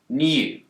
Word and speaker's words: new: In the word new, Brits will tend to pronounce a y sound here, new. But Americans don't. They've dropped the yod.